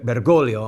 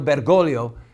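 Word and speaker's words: Bergoglio: with the name again bolio I want to say the name right think that the second g is silent Cardinal bergolo fought against the Marxist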